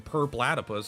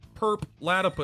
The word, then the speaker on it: Purplatypus: cool it's better than per platypus everyone's like purple purple laddie pews people never know how to say my name oh look it's perp latap i mean it is purple platypus mixed together so people call me